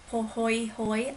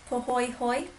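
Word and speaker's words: pāhoehoe: It is poy hoy lava and it resembles braids and ropes. So, again, pronounced poy hoy.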